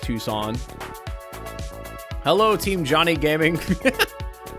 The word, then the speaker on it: Tucson: It's pronounced Tucson.